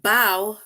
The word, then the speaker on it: bow: in this sentence right bow rhymes with how and that is why